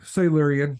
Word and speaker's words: Silurian: Is that how you pronounce it though? Silurian? Silurian, yeah.